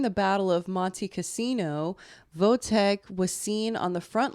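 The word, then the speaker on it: Wojtek: of British transport ship from Egypt to Italy whoa Tech I keep saying whoa Tech but it's vote Tech it's spelled both ways it's definitely vote but it's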